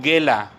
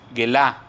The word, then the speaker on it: gela: La palabra en su original griego se traduce como gela, gelá, con acento en la A, gela, G-U-E-L-A, gela, y significa revelar y también llevar cautivo o mostrar.